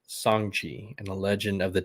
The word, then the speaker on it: Shang-Chi: Gotta make sure you pronounce it right. Shang-Chi and the Legend of the Ten Rings.